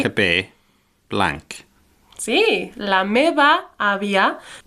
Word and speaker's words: àvia: Sí, la meva àvia. Just remember, we pronounce these V's a bit more like B sounds.